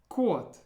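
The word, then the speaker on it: кот: How would you pronounce this? That's right. Kot.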